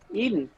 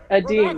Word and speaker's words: Edin: McMillan, who has coached Eden. Nicholas from Edin. Sweden. Yeah. You're going to pronounce it Eden so you can get it to rhyme with Sweden, but I think it's actually We're all there.